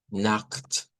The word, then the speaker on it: Nacht: Y aquí vamos a tener cuidado porque la CH esta se va a pronunciar con esto que no es una X. Es algo como ugh, Nacht, Gute Nacht, Gute Nacht.